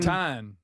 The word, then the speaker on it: creatine: The American creatine. Creatine. Um, I I've always said it so that it rhymes with protein.